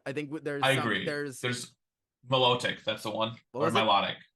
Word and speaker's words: Milotic: But it's got these beautiful scales, and I feel like Milotic.